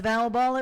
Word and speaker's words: Val Baul: That's Val Baul. It rhymes with foul ball because sometimes I'm out of line.